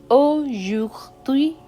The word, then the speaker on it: aujourd'hui: It's easier to pronounce when you break it down. So it's O, A, U is O, jour, dui, aujourd'hui.